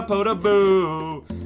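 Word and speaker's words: Podoboo: where there is a potaboo that's the correct way of pronouncing it and i hate it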